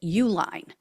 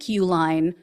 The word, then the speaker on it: Uihlein: billionaires Liz and Dick Uline uh which is spelled different than the company name but I believe that's how you pronounce it so this couple according